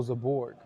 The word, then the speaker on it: Zaborg: It's pronounced Zborg Defund. Oh, Zaborg.